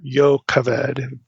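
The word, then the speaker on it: Jochebed: of Amram and and Jacobed, you know, Moses' parents. So, it says, "Amra took his as his wife, Jacobed, his father's sister or Yaved be the better Hebraic pronunciation.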